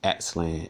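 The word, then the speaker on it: Aztlán: It says the ancient Aztecs, not only the Aztec, the correct way to say Aztec is Aztlan, Aztlan. All right, that's what people call themselves.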